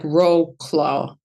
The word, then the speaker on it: Wrocław: So it's spelled Wrocław. It looks like Wrocław, but it's pronounced Wrocław.